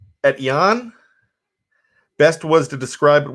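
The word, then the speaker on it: Etienne: supposed to be pronounced it is a french name edien and it is pronounced at yon best was to describe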